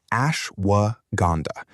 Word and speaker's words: ashwagandha: the one you've heard the least about: ashwagandha, pronounced ashwagandha.